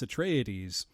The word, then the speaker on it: Atreides: here's what it is, here's how you pronounce it, so it's Atreides, the ruling house of planet Caladan.